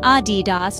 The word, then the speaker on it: Adidas: So the correct way to say it? Adidas, with emphasis on the first syllable. Remember, it's not Adidas nor Adidas, it's Adidas, crisp, clear, and confident.